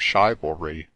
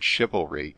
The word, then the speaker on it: chivalry: back the glory of shivalry pray be so good for the sake of my song to pronounce here the anti penultimate long or some hyper critic will certainly cry the word chivalry is but a rhyme